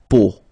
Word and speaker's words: peau: But then, so the sound that you will have to pronounce when you've got these three vowels combined together, it's the sound O. Okay, so really simple, O.